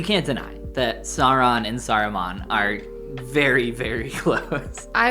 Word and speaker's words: Saruman: what sauron and ceramon oh yeah those are not a different entire extra syllable but you can't deny that sauron and saruman are very very close